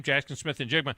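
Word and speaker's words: Smith-Njigba: Well, I had tweeted in the third quarter of the Rose Bowl that Jackson Smith Njigba, is that how you say his name? Jackson Smith Njigba.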